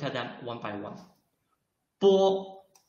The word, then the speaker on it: 波: 波 When we read 波, you can feel that your lips are blocking the airflow, and then suddenly open your lips to let the airflow rush out of your mouth.